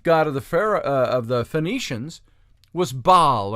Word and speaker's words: Baal: And the chief god of the Phoenicians was Baal, or Baal, if you want to pronounce it that way, with the hyphen in between, B-A-L.